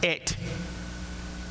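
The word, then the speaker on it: את: If you're reading Hebrew, it's pronounced et.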